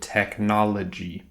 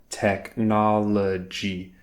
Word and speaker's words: technology: trouble pronouncing the word technology she would always just say technolog and what's interesting is that when she slowed it down and she just took it step by step technology she could do all